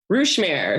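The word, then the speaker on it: Ruche Mère: I mean, how do you pronounce it? Ruche Mére? Ruche Mére. So it's French, and it translates to hive mother or mother hive.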